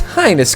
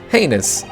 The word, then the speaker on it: heinous: have perpetrated a most highness crime indeed heinous that's how you pronounce that word as you are no